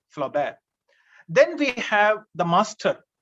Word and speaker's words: Flaubert: his masterpiece and gustav flaubert spelling g-u-s-t-a-b flaubert f-l-a-u-b-e-r-t in french the last consonant is most of the time is silent flaw bear then we have the